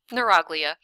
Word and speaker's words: neuroglia: like it h nagia neuroglia that's what you're supposed to call this you're supposed to read along and just say oh and the neuroglia you yeah that's that's